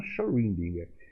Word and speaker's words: Schrödinger: Por meio de cálculos matemáticos, esse nome eu nunca soube pronunciar, Erwin, eu pronuncio Schrödinger. Tem gente que fala diferente, eu até consultei até meus amigos aí alemães. Eles falam Schrödinger.